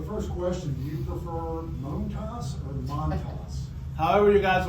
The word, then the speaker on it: Montas: I mean, I'm so used to people saying Montas. How would you prefer it to be said? How do you say it? If you were saying it, what would it be? Well, I'll say Montas. Okay. Okay. But you guys can say Montas.